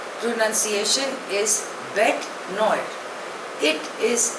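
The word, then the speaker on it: bête noire: यूएस ए the next word is बेट नोयर spelling is बी ई टी ई एन ओ आई आर E pronunciation is बेट नॉड इट इज अ French word it means अ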